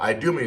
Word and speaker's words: Idumea: Well, Idumea is how you say Edom in the Greek, Idumea.